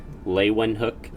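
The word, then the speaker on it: Leeuwenhoek: improving the microscope so the name lewin hook and microscope are both three syllable words leywen hook microscope so that's how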